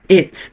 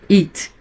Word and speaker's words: it: Sempre lembrando, reforçando sempre o som do pronome neutro em inglês, que é o it, e não it. Porque it é o verbo to eat, que é o verbo comer.